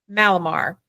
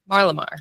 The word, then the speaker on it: Marlimar: And we have Andrew Martin with Malamar. Marlamar.